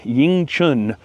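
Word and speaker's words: 迎春: In China, this plant is known as Yingchun, I think is the proper way to pronounce it, which means welcome to spring flowers or something like that.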